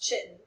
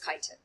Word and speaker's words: chitin: Looks like it should be pronounced chitin, but it is not. It is chitin.